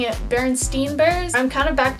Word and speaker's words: Berenstain: now that I've like heard so many peoples pronouncing it Bernstein bears I'm kind of back to my original thought process of it because I always remembered it as berenstain bears and if I had never heard of